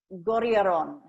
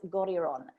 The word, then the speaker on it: Goriaron: To Alex Goriaron. Now that is how you pronounce Alex's name. He taught me that yesterday, Alex Goriaron.